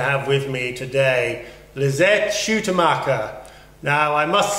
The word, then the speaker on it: Schuitemaker: difficult to pronounce Oh how do you pronounce your surname lisette's how to market there you are try repeating that at home